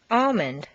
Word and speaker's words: almond: Once you've found all the L sounds, the good news is that very often you don't even have to pronounce them.